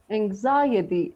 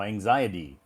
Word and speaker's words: anxiety: right yeah it does even though it has a t it has a Ty or a T at the end it's some it it sounds like a d so anxiety so yeah anxiety so